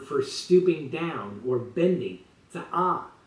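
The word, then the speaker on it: צעה: Rather, the Bible uses in Isaiah 63:1 the Hebrew word for stooping down or bending, za'ah, with an H sound at the end.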